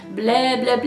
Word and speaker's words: Bleh, Bleh, Bleh: the polish is that it's called Bleh, Bleh, Bleh, and you kind of have to say it like that. This polish is inspired by Drac from Hotel Transylvania, and you know how he's always like, I don't say blah, blah, blah.